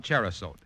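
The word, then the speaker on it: Cherrosote: contains no narcotics you can depend on on cherot it's spelled c h e r r o s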